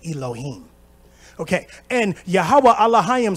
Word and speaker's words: Elohim: father in ancient Hebrew alayam is how you say god in ancient Hebrew if you speak modern Hebrew you would say Elohim okay and yahwah alah